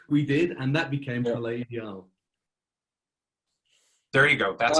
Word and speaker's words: Palais Ideal: Which we did, and that became Palais Ideal.